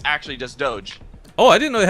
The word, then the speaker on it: doge: home star runner video in 2005 and it's pronounced doge in the video it's actually just doge oh i didn't know it had like an